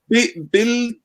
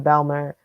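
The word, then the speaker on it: Bijlmer: So it's called Biljma, Biljmer. MER, Biljma, okay. Yeah, I can put the link in the chat. Biljma, yeah, sure. Feel free to. Oh, that's Belma then. Belma, yeah, my pronunciation's bad, so apologies.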